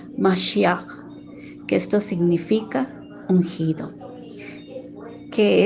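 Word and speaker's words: משיח: quiere decir Mesías, y en hebreo que se pronuncia Mashiach, que esto significa ungido, que es Salvador, libertador de la humanidad.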